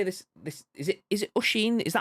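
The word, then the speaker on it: Oisín: Is it Oisin? Is that how you pronounce it?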